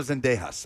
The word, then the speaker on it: Zendejas: absolutely call for Gio Reyna to bring in Zendejas, but the US is having trouble finding those spaces in the attack, you know. What What name was he supposed to pronounce? It's Alejandro Zendejas, okay?